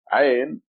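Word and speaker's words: عين: Ain. It comes from your throat. Ain. The sound, I'm trying to make as much sound as possible to let you get a feeling of that letter.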